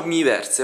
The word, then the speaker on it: Miiverse: non farvi vedere il mi Verse mi Verse mi Verse non so come diciamo miiverse va che siamo in Italia e quindi lo pronunciamo all'italiana ed è un speci